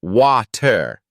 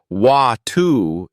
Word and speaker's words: water: For instance, the word water may be pronounced water in American English, but closer to watu in British English.